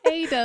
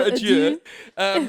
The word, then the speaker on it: Adur: Ada. River Ada. Is it Ada? No. Adieu. River Adieu. From the River Adieu, Ada for the Shoreham people, they say it wrong.